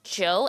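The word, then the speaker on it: José: Also in Portuguese, Jose isn't pronounced with a J-O-H sounding J. It's legit Joe, as in Joe.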